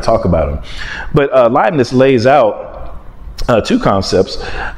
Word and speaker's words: Leibniz: of uh gottfried wilhelm leiblitz i'm sure i mispronounced that he's a german guy yeah but leibniz who comes along a